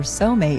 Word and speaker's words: Csomay: Remember, Somay is spelled CSOMAY.